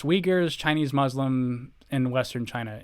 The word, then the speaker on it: Uyghurs: Neoni says they're pronounced Uyghurs, Chinese Muslim, and Western China.